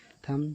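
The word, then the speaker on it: thumb: जैसे इसमें देखिए, थम थम में एम के बाद बी आया तो ये बी को नहीं पढ़ा गया, ये बी साइलेंट है। थम थम में अंगूठा।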